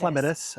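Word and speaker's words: Clematis: Yeah, this is a clatus. Oh, it is a clatus. Cleatus actually is how you pronounce it officially for all those plant nerds out there.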